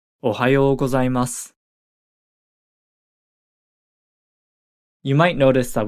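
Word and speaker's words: おはようございます: say good morning is Ohio gozaimasu Ohio gozaimasu you might notice that we don't really pronounce the final u vowel sound at the end of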